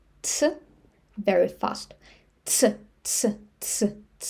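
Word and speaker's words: ц: she she she And one more letter, letter tse tse This letter does not exist in English, but you can try to say t and s tse very fast.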